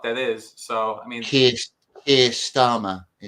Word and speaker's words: Keir Starmer: So, I mean, Keir Starmer, his name is. Yeah, the guy whose name rhymes with Pierre Harmer.